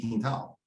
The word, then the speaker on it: Quintal: I was like, so like to get him to say it properly.